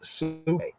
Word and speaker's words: psyche: The old way of pronouncing the word suke, the later day Oxfordian way of pronouncing suke, right? Suke is like the old Greek suke, right? Modern times we say psyche.